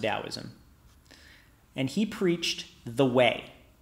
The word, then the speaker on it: Taoism: You'll sometimes see Taoism with a T in English, but it's still pronounced Taoism.